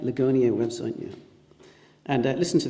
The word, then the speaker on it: Ligonier: selection of text that I've drawn from the Ligonier, or Ligonier, am I pronouncing that right? Ligonier website, yeah.